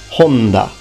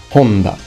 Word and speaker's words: Honda: and his name is Honda Honda please notice first of all the H is always aspirated in Japan so you need to pronounce it fully and this is actually